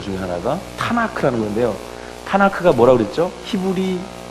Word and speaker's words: 타나크: 케투빔의 K 해서 T, N, K를 그들의 자음인데 이거를 그냥 이렇게 거기에 모음을 넣어가지고 타나크 이렇게 발음하는 거예요.